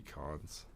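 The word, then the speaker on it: Kuntz: royals his name's rusty it's k k-u-n-t-z but it's pronounced rusty cons yeah let's see this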